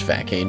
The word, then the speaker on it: Facade: I use Facade, which, as I've explained, is pronounced Facade because there's no Cedilla on the C, as they go for Psychic, and I'd finish them off with another Facade.